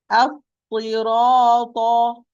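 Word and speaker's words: الصراط: As-sirata, as-sirata. Pay attention. Two Saad with shadda, so two Saad.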